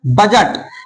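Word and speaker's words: budget: लेकिन पता चल गया कि यहाँ पर डी क्या है, साइलेंट है।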